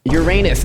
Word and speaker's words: Uranus: Are you trying to teach me how to pronounce it? Uranus is correct.